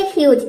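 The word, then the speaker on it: huge: जैसे कि देखिए यहाँ पे एग्जांपल है ह्यूज।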